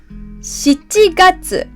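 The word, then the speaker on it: 七月: We say 4月 4月 not 4 4月 The next one is July 7月 7月 We don't say 7 The last one is September 9月 9月 We don't pronounce it Q So April 4月 July 7月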